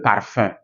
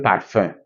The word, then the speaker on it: parfum: In M, example, le parfum. Le parfum. I didn't say le parfum. I didn't say le parfum. So when you are reading, you see this consonant ending a word. Don't pronounce it.